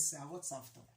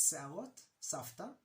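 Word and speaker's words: שערות סבתא: for cotton candy is Se'arot Savta. I wrote it here, Se'arot Savta. The V here is pronounced more like a F, but it's Se'arot Savta, or Se'arot Savta, which means granny hairs.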